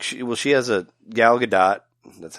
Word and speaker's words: Gal Gadot: Did you know, I wanted to tell you, did you know that, like, she has a Gal Gadot, that's how you pronounce her name.